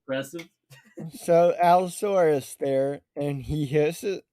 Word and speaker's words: allosaurus: acrobatics okay so you turn and you clean allosaurus or as you pronounce it an alliasaurus or saucerus are those are those the big